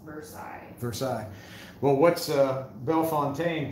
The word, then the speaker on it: Versailles: Jason Walker, Versailles in Ohio is pronounced Versailles.